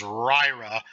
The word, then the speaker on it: RYRA: we have the and I pronounce this ryra but it's rock your repaired amp r-y-r-a these are supposed to be excellent